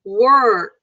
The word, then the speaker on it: work: And then work, you can work. So when you do the W, first you do W, like you're kissing someone. And then curl your tongue.